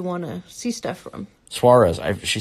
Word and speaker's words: Suarez: Suarez. She said I pronounced it correctly the first time.